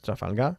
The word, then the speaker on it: Trafalgar: And by the way, we pronounce Trafalgar, Trafalgar.